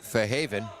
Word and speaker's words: Fairhaven: Played her high school sports at Fairhaven, and you could tell she's from Fairhaven. She pronounced it Fahaven.